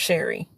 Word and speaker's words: Sheri: That it just rhymes with my name. Scary. And then there's Sherry.